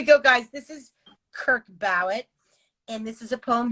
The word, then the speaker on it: Bowett: But Bowett, yeah. Bowett.